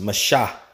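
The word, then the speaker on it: מַשָּׂא: that word in hebrew is that word is pronounced masha and it says load bearing burden lifting all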